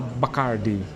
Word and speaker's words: Bacardi: Por exemplo, Bacardi, que a gente tá acostumado como rum no Brasil, aqui tem também, só que ao invzar Bacardi, chama Bacarde. Bacarde. A pronúncia é bem diferente.